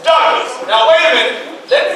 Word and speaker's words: Douglass: the name of Douglas but this time Douglas with two s so that way when you pronounce my name you pronounce my name as dougas somebody say that you got two s you make sure you say the S so when they call